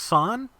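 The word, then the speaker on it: 三: In Japanese, the number 3 is pronounced san, the number 9 is pronounced Q.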